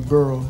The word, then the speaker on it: borough: What borough? I said it right, borough.